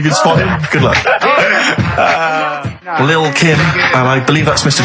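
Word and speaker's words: Lil' Kim: Now, Steve, I see there it's a track by Little Kim, but how are you pronouncing it? I'm pronouncing that correctly. Lil Kim. Oh, no T's involved.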